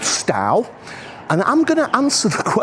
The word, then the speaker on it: Stow: I need to watch my pronunciation. It's definitely Stow, but there is a Stow down in England, so I keep getting them mixed up.